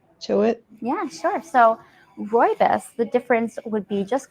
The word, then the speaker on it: rooibos: Was interesting, something I was reading somewhere, your Robios, is it pronounced Robios? It's pronounced rooibos.